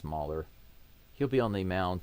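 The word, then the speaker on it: Mahle: Tyler Mer, his name spelled like Molly, but I think it's Mer.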